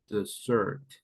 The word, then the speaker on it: dessert: here with double s the emphasis is on the second syllable the zert the zert this is food